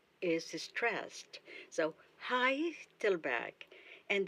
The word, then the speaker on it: Heidelberg: The first syllable is stressed, so Heidelberg. and the G at the end of the word is pronounced as K. Let's say the name of the town, Heidelberg. Heidelberg.